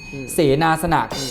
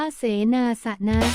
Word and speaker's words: เสนาสนะ: บิณฑบาต ก็ คือ อาหาร เสนา สนัก เสนา สณะ อ่าน ว่า เสนาสนะ ก็ คือ ที่ อยู่